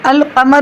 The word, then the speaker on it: القمر: لام کا تلفظ القمر، تو القمر میں ال جو ہے لام پڑھنے میں آ رہا ہے، شمس میں لام پڑھنے میں نہیں آ رہا.